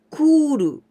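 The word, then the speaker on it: 来る: And 来ます来る. But here the same kanji. 来ます here the same kanji. Here we pronounce き, but here we pronounce く, 来る.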